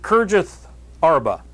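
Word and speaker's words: Kiriath-arba: bladder on today and we pronounce it Curtis arba and forgive me if you think that we should try to mimic the Hebrew pronunciation I think it would be more like Hara Hara Hara but anyway it says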